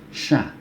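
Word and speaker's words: ش: Yang ini seperti yang tadi saya sampaikan bahwa ketika mengucapkan huruf ini harus bibir kita dalam posisi tersenyum. Sya, ya, sya.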